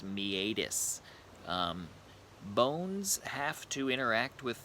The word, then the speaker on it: meatus: so a me ADIS some people say meatus but more medical professionals do pronounce that word as me ADIS bones have to interact